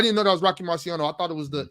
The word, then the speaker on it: Marciano: Marciano.